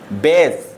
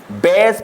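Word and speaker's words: base: बी ए एस ई, बेस। क्या पढ़ेंगे इसे? बेस पढ़ेंगे, ठीक है ना, बेस, ना कि बास। बास हमारा गलत हो जाएगा।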